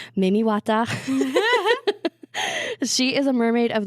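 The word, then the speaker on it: Mami Wata: And then in Cameroon, I have read a book series about this one, so I know how to actually pronounce it. It's Mimiwata.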